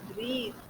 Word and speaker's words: breathe: pronouncing this word b-r-e-a-t-h-e the word pronunciation will take a the in the end breathe it will not take listen it will take this all right it will not take this are you understood so